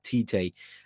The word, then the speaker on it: Tite: and i know i'm not saying it right titay with the arsenal job as a replacement for